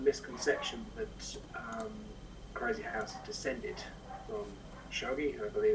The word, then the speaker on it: shogi: There is a common misconception that Crazyhouse descended from shogi, I believe it's pronounced, but though that is not in fact correct, it's undeniable that Crazyhouse and shogi share the same principles.